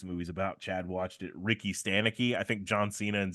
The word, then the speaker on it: Ricky Stanicky: He's just basically saying how you pronounce it is you have to rhyme the two words.